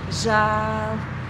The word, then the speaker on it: žēl: Žēl. There is the long vowel, it's the broad form of that vowel. It can be pronounced narrow as well, as ē, but in this word we pronounce it broad.